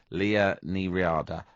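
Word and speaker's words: Liadh Ní Riada: We're joined on the line by Sinn Féin MEP for Ireland South, Leah Ní-Riada. Hello, Leah. Hello, how are you? And I'm quite impressed with how you pronounced my name.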